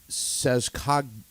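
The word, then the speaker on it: Saskadena: It's Sazkadina. Sazkadina. And it's in Sazkadina. recognition of the Abenakis, and it means, what is it, Standing Mountain, or? Abenaki people, Standing Mountain, yes. That's what it means. Sazkadina.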